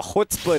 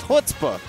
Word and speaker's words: chutzpah: He's got the chutzpah to back it up.